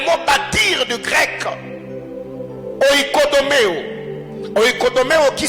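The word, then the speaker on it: οἰκοδομέω: Oikodomeo qui s'écrit comme je le dis, ou comme je viens de le prononcer.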